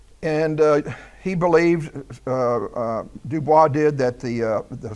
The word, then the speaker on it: Dubois: named eugene i would i would think that spell pronounced dubois that's how i'm going to say it anyway in the dutch uh